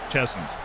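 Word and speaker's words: Cheshunt: Where's the emphasis? Is it like Chesunt? Or Chesunt? Chesunt. Silent H, okay.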